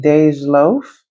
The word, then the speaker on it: Dej Loaf: So, I think you pronounce her name Dej Loaf, but I could be wrong, y'all.